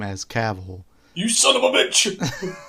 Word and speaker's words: Cavill: Of Henry Cavill himself pronouncing his last name as Cavill.